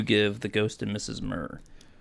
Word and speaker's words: Muir: the ghost and mrs murr mir muir it's not not mirror it's not it's not taking gifts to jesus it's worse than that you don't even fully pronounce it uh okay so i